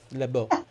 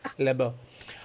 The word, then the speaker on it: Lebeau: naboo yes i love i don't have the french accent i do not have le bo libo um so yeah so